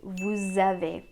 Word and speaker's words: vous avez: So normally we say vous, but because it's being followed by a word that starts with a vowel, you have to link it. And then we say vous avez.